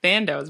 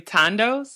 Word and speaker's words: Thandos: si I'm calling like Sandoz but is there really Tondo well yeah the H is silent so ah it's a